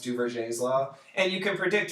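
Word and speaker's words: Duverger: to anybody who's looking it up but it's pronounced du's law and you can predict just based on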